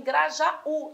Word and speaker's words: Grajaú: pode estar no já Grajaú a tônica tem de estar em Grajaú lá no u é o nome do lugar se a tônica está